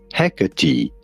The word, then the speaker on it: Hecate: Hecate is how it's usually pronounced when you talk about the ancient Greek goddess. Hecate.